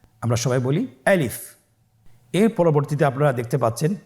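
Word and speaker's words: ألف: গলা এবং মুখের শূন্যস্থান হতে আলিফ হরফটি উচ্চারিত হয়। আমরা সবাই বলি আলিফ।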